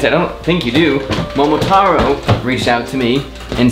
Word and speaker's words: Momotaro: Warning, I believe the brand is pronounced Momotaro, but a few times I slipped up and said Momotero.